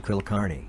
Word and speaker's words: Kulkarni: Repeat the process for the name Kulkarni.